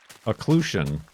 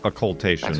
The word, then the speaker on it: occultation: turn around at least oclusion is how I've heard it oclusion but how is it spelled yeah it is occultation let me sit here comes the official pronunciation lunar occultation I knew it oclusion is something else entirely I think